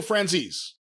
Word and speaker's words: Franzese: Michael Francese, how do you say that? It's Italian. You ought to be. I ought to be. I'm Jewish. Michael Franzese.